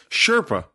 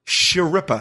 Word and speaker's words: Schirripa: I don't I don't know how to pronounce his last name. Schirripa. Schirripa. Schirripa.